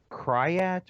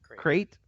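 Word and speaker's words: krayt: The Cryat or Crite Cup Championship. Crate.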